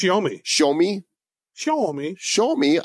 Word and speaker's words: Xiaomi: How do you pronounce this? Xiaomi's? Xiaomi. It's a Chinese. I think it's Xiaomi. Xiaomi? Xiaomi. Xiaomi, I show you.